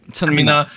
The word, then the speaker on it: Chanmina: iKON's Bobby with Harmless featuring Chanmina. Right? Is that how I say her name? Yeah. Just stated weirdly. Chanmina.